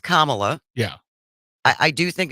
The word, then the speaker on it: Kamala: to just correct you for one thing it's pronounced Kamala yeah I I do think it's been long enough now that we can all learn how to pronounce her name yeah it's kamla kamla and did you watch the debate she